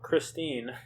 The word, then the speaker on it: Christine: Kristen Michael. Christine is how it's spelled, so that's how I'm going to say it.